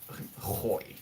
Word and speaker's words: gooi: Hoying is actually with a G. The way we spell it is Gooi. Hoy.